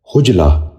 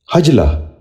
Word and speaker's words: حجلہ: نشین کر لیجئے، حماقت۔ ساتواں لفظ ہے حجلہ۔ یہ غلط تلفظ ہے، اس لفظ کا درست تلفظ ہے حجلہ۔ اب ذرا غور سے سنیے، حجلہ۔ بچوں آپ بھی غور سے سنیے، حجلہ۔ آٹھواں لفظ ہے حسنہ۔